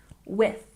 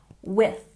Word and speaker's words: with: And with, there's the TH sound, put your tongue between your teeth, with, with. One more time, with.